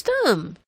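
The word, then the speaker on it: Stumm: grin why it's Colonel's thumb he cried he pronounced it like the first syllable and stomach very pleased to meet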